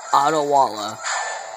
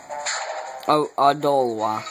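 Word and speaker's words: Odolwa: instrument he jumps down this is Otto Walla the jungle the mask jungle warrior Oh dole wha sorry I said I always say his name wrong so dive and he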